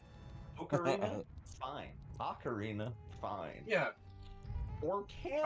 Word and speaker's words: Ocarina: Oh, what was the awful pronunciation of Ocarina? Orcana. No! Don't breathe life into that, you fool! Ocarina?